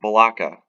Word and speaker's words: Balaka: And this is in a city called Balaka. I believe I'm pronouncing that correctly. It's Balaka, spelled Balaka.